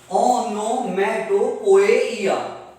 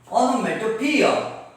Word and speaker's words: onomatopoeia: figure of speech that we will study is onomatopoeia. Onomatopoeia. Poeia. If you commit a spelling mistake, you are going to lose a half mark. So be careful. Onomatopoeia. It's not poeia. It's onomatopoeia. Onomatopoeia.